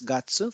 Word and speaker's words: 月: case it is tsuki but here it is gatsu for month this we have studied in lesson 17.